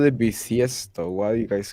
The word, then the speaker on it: bisiesto: Año bisiesto. V with a V or a B? B as in boy. I mean, it's pronounced the same way.